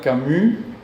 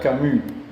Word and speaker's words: Camus: Entonces esa U francesa se dice con la boca de la U, pero haciendo una I. Entonces él se llama Albert Camus.